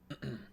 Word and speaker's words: Majida: Okay, so it is a JJ. Or it is a J sound. Majida.